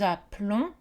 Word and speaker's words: appelons: prononcé l appel mais pour nous et vous nous nous appelons vous vous appelez le ému et on ne prononce pas donc le elle simple